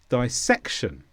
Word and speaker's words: dissection: is a noun and the stress is on SEC dissection and this means cutting